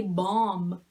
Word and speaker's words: bomb: Sometimes it sounds like aw, like when you say bomb again, this B is silent, like this B in womb.